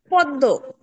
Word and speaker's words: পদ্ম: পদের মধ্যে বা শেষে মফলা যুক্ত বর্ণের দ্বিত্ব উচ্চারণ হয়, যেমন পদ্ম।